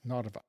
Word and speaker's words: Narva: You can see the major town of Nava on the Narva River. Narva on that map looks like Papa in Roman letters. So H A P B A but in Cerrillic it's pronounced Nava.